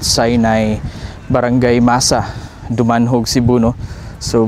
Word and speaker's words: Sinai: So mga casters, ang kumpleto na address or location dito mga casters no, is Mount Sinay or they preferably pronounce it as Mount Sinai.